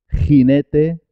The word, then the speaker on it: jinete: Jarra, jefe, gente, jinete, página, lo mismo. Jinete se escribe con J, página se escribe con G, pero los dos suenan ji, ji, con la garganta, ji.